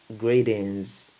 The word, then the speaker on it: greetings: En anglais, on dit greetings. Greetings. Le T, moi je préfère le prononcer D parce qu'il y en a qui le prononcent D ou un truc, un D qui se rapproche d'un R. Bref, euh, les, les sons